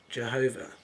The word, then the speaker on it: Yahweh: which says this represents the Hebrew constants YH w h probably pronounced Yahweh but traditionally rate as Jehovah so Adam is Jehovah